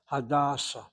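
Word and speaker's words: Hadassah: But somehow with the name, the proper name of a person, you hit the first syllable. Hadasa. The hospital is the second.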